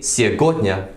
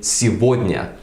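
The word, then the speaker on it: сегодня: the net yeah but we don't say see a corner we say tsuboi Mia because you know same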